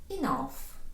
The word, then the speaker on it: enough: Enough, достатньо. Зверніть увагу на те, як читається це слово. Останні дві літери GH наприкінці тут дають нам звук ф.